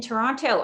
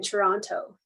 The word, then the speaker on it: Toronto: Natasha, you can tell you're not from there because you pronounce the T in Toronto. Yes, it's that's Toronto.